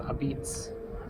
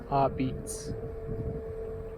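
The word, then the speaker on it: apizza: But it's actually pronounced Abitz. Abitz.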